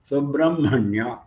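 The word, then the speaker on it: Subrahmanya: But while pronouncing, H is not given any special pronunciation. Ma is pronounced but with an emphasis. Subramanya. And next was Jnana.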